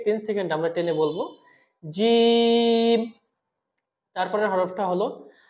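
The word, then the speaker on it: ج: এক আলিফ টেনেছি আর জিম হরফ আমরা চার আলিফ টানবো এবং জিম যখন আমরা বলবো তখন জিহবার মধ্যখান থেকে একটু শক্ত করে বলবো আমরা বলুন আমার সাথে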